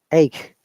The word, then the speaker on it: ache: Now this ch is ka sound, not ka even. That is the important part of learning pronunciation. Ch could be cha, ka, and ka. Three types of sounds. But in this case, this is ache, ka sound.